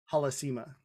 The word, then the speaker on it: Halasima: So it's like, me, mine is, it's Halasima. Halasima. It's just the Halasima. So it's like, if you say it like you're speaking Spanish, you'll 99 times out of 100, you're saying it right.